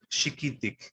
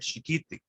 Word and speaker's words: chiquitic: This is chiquitic, chiquitic. The stress is on this I right here, chiquitic.